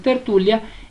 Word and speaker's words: tertulia: en la penúltima sílaba vamos con tertulia y tú ya entonces tertulia es una palabra grave sin tilde porque llega la mayor fuerza de voz en la penúltima sílaba gracias por ver este